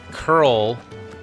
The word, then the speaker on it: Coeurl: If you don't play if you haven't played Final Fantasy games, a curl. It's spelled like coeurl, but it's pronounced curl.